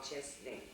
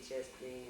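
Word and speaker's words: Chesaning: In a small town in Michigan, it's called Chesney. You want me to spell it for you?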